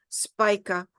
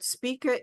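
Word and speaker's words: Spica: called Spa SP IA some people pronounce her spika but speaka is the sweetest star of the heavens and with the moon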